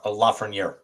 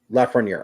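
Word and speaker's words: Lafrenière: How do you pronounce his last name? Alex Lafreniere. Lafreniere.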